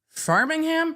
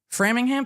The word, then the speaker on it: Framingham: was held at Massachusetts State Police Headquarters in Farmingham Farmingham massholes look what I moved to UMass ammer I couldn't pronounce Worcester correctly for at least two semesters so Framingham Framingham something like that took place with testimony